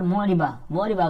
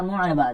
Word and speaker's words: مُعْرَبَةٌ: بعض کا یہاں پر معربہ کر دیتے ہیں یا کوئی اور تلفظ کرتے ہیں. معرب لفظ آپ نے سنا نا، تو اسی سے گول حرف لگا دیں فَإِنَّهَا مُعْرَبَةٌ.